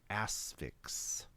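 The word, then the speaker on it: The Asphyx: it it's a drama horror film called the asix yes and that is spell that is spelled for those of you wondering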